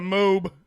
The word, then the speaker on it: Moab: How That's do the the- actual how do the Indian people in pronunciation? They say. Yeah. How do they say? Welcome, Moab. welcome to Moab.